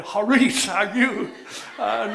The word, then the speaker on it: charis: sea is silent and the I sounds like a long e in the Greek in the Greek it's pronounced haris and the r is